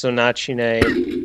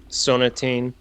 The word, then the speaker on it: Sonatine: I mean, it's like if you watch, in Japanese it's Sonachine, in English it's Sonatine.